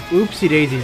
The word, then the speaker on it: Upsy Daisy: Oh, I think it's originally it's Oopsie Daisy's not with two. Oh, well, you can spell it as two O's, but it is UPSY. It's a soft U, so it is Oopsie Daisy.